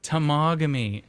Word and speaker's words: Temagami: So my wife called me and she said, Tamagami. I'm like, oh. My wife literally called me to tell me how to pronounce it.